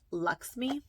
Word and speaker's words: LXMI: I'm trying to read where okay, LXMI is actually pronounced Luxme. So that's Luxme.